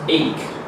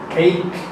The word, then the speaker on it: ache: It's pronounced ache. Ache?